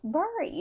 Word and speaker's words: buried: She actually has to misspell this word to pronounce it correctly. Cuz it still looks like berry. I'm It's It's berry.